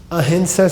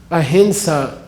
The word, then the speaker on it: ahimsa: Ahimsa, which is not pronounced ahimsa, okay? There's no such thing. There is no M before an S in any Sanskrit word at all.